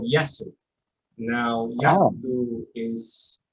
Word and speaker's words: Yasu: More importantly, my son, 8 years old in May, is called Yasu. Now, Yasu is spelled Y-A-S-U.